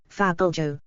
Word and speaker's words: fabliau: V * T * E A Fabo French pronunciation Fabo plural fabios is a comic often Anonymous tale